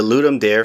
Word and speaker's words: Ludum Dare: Hello everybody, I entered in the Ludum Dare 48. It's pronounced Ludum Dare, not Ludum Dare.